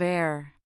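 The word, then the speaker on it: heir: In words like our, honest, and air, the H is completely silent and we glide directly into the vowel sound.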